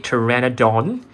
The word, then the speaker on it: Pteranodon: This is actually a Pteranodon. Yep. The name actually starts with P, but they don't pronounce the P, so that's pretty interesting.